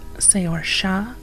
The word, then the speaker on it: Saorsa: origin of the planet Saorsa, and it's sister world Seireadan. Technically those should be pronounced Say-or-Shah and Sher-ri-dan, if we go by the original gaelic terms, Scottish and Irish respectively, but the issue is